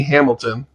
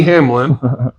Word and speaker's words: Hamlin: He was saying Denny Hamilton. It's Denny Hamlin.